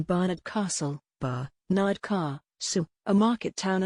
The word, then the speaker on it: Barnard Castle: But many, including newsreaders, said the name of the northeastern town incorrectly, as it should be pronounced Barnard Castle. Brackets show the phonetic pronunciation Barnard Castle, Barnard Castle, a market